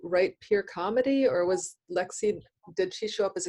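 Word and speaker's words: Leagsaidh: full first name oh lexie but as the way of gaelic is as gaelic does call it rather um it's pronounced it's spelled l-e-a-g-s-a-i-d-h pronounced lexi so it's katrina with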